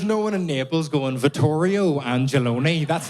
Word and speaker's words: Vittorio Angelone: because like we discussed, my name is Vittorio Angelone. And that's not how you're supposed to say that. It shouldn't be in a Belfast accent. There's no one in Naples going, Vittorio Angelone.